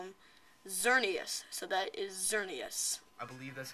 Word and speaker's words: Xerneas: we cannot call him xerneas so that is xerneas i believe that's how you say it xerneas